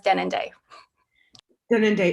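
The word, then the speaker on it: Denendeh: canada awesome thank you also known as denon day if you say it properly and i'm originally from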